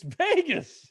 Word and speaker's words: Vegas: Can I say something about how you pronounce Vegas? I've heard of Vegas before. I don't know. It's Vegas.